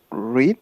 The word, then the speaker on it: read: I have not read. ¿Cómo se dice? Se escribe igual, pero se pronuncia como el color rojo. Red. I have not read.